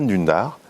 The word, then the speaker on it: Dündar: En fait, ça se prononce Can Dündar, et il est turc, et c'est un très grand journaliste.